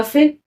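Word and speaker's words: fille: य पर लिखा है एफ आई डबल एल तो इसको हम प्रोनाउंस करेंगे फी कैसे बोलोगे फी आई डब ए को प्रोनाउंस करेंगे ई करके तो क्या प्रस क्या प्रोनंसिएशन हुआ इसका फी क्या हुआ फी इसका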